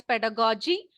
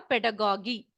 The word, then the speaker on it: pedagogy: You can pronounce either as pedagogy or pedagogy. So it is ego or ejo. You can pronounce in either way.